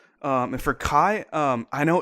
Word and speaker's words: Kai: the biggest star name was called Kui in a Chinese pronunciation, but turned that into Japanese pronunciation. I think it's called Kai.